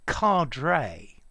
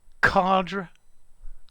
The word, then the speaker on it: cadre: it um but well it's linked to to a french word and in my opinion that's how it should be said okay so cadre carda cadre yeah but for me card okay so let's go